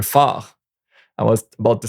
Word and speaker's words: phare: The PH, borrowed from Greek, make the F sound in French. So, un phare.